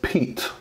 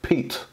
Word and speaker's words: Piet: crkt Piet Piet so it is actually pronounced Pete Pete this is the crkt Pete I know it's spelled